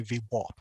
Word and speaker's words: VWAP: the rising v sure now i say v because i'm in australia and i know because it's spelt vwap and a lot of the americans say v1 right but i'm going to stick to uh v web all right so this